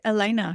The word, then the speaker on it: Alena: Well, Hello, Alena or Alena? How do you No, you got pronounce it right, Alena.